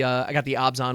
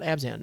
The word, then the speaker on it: Abzan: And I did get a pre-release kit as well, and I got the Abzan one, which apparently it's pronounced Abzan, not Abzan. I don't.